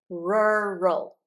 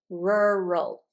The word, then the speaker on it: rural: And in the l the sides of the tongue don't touch the teeth. And the L just rests behind the teeth about where the teeth become your your mouth. Okay. Rural.